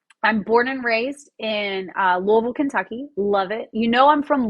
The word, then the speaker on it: Louisville: It's not Louisville. It's Louisville. Like you kind of have to sound like you got something in your throat.